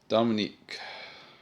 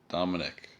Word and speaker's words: Dominic: Dominique. Or Dominic. It's spelled Dominic here. There's no QUE.